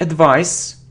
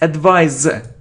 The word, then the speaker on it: advise: Okay, it isn't advice, it's advise, z. It's a verb, z. We pronounce it as, z if it's between two vowels.